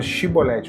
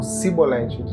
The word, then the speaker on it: chibolete: E aí eles mandavam pronunciar a palavra chibolete, como se fosse chiclete, né? X. Eles não conseguem falar. Eles não conseguiam falar. Eles falavam cibolet.